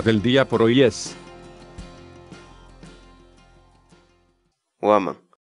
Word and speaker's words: waman: de vídeos en la que te enseñamos a pronunciar algunas palabras en quechua así que nuestra palabra del día por hoy es huamán o ama guamá la palabra quechua o am